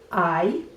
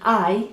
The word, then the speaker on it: hay: this one is HAY the H is silent so it's HAY and HAY means there is or is there?